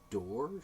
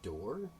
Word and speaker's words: Dore: boast from the jimmy dore show believe it's pronounced door by the way I'm d mclennan this